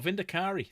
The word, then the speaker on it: Vindicare: Or Vindicari, depending on how you want to pronounce it. I call it Vindicare.